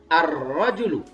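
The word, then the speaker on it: الرجل: rojulun ya tiba laki-laki maka dibaca kalau masuk alif lam arrojulu laki-laki itu jadi rojulun ketika datang di clan dibaca arrojulu Dibaca arrojulu laki-laki kemudian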